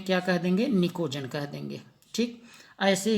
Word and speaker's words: pnicogen: P silent है, PNICOGEN, निकोजन।